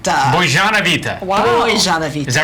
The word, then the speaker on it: Bozenovaite: Bozenovaite. Bozenovaite. Bozenovaite. Is that right? You have to have the Close, boys like yeah. Boys, like Bozenovaite. Yes. Like a little harsher. A little harsher. Bozenovaite.